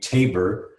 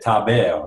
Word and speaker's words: Taber: in English so you they say my name tapir but I used I lived in France as a kid and they said Tapia so I like him so